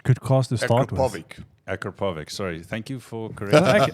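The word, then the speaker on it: Akrapovič: Both, well, actually the Yaris is mostly stock except for Venturi air intake and the Akrapovic exhaust. Those are such good cars to start with. Akrapovic.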